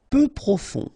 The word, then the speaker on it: peu profond: Peu profond, final D not pronounced, peu profond.